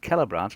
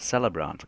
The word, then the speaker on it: Kellbran: um the kellbran and it's a pronounced kellbran not celebrant cuz uh they don't when elves speak it is where they pronounce CES as K that that's one thing that you might want bear in mind when you're picking a name um it's kellbran um it's like kellor not caborn it's cellor and that